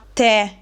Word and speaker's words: tè: Se invece metto l'accento, che in questo caso è grave, dobbiamo aprire il suono della e che diventa e. Quindi, con l'accento grafico grave questo monosillabo diventa tè, il tè, quello che si beve, quindi è un sostantivo maschile singolare.